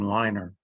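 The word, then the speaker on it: Leiner: The logical designer was a guy named Alan Liner, L-E-I-N-E-R.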